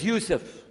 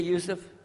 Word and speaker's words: Yusuf: la my name is Yousef can you say Yousef who say Yousef you're very good I wish